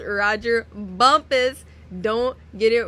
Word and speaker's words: Rodger Bumpass: that plays Squidward and yes his name is pronounced Roger Bumpus don't get it wrong it spelled otherwise but